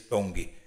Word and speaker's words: Tong: segunda língua na escola em tong pronuncia-se tong que frequentou até a oitava